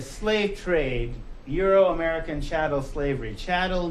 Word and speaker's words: chattel: trade euro-american chattel slavery chattel means cattle rhymes with cattle chattel is a former